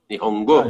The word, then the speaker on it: Nihongo: Eu fiz um curso de Nihongo, tá certo a pronúncia? Nihongo?